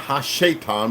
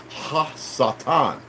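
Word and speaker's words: הַשָּׂטָן: so in the sep the Hebrew hasatan it's not Hasan but it pronounced hasatan because it's breathing the adverse of see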